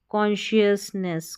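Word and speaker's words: consciousness: शस और नेस, शश और नेस, कॉन्शियसनेस, कॉन्शियसनेस। इस स्पेलिंग को, इतनी बड़ी स्पेलिंग है, लेकिन तोड़ के पढ़ेंगे तो पढ़ना आ जाएगा।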